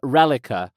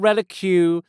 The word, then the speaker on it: Reliqa: No O in that, it's just M-Nique Pym, from Reliqa. Not Relique, not Reliqua, not Relique, Reliqa.